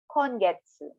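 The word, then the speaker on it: 今月: One time again, slowly, per syllable, sengetsu. Last month. Now for this month, kongetsu.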